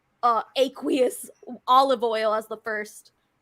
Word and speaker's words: aqueous: word aqueous in it it's actually aqueous I had to I had to look it up on how to pronounce it oh my God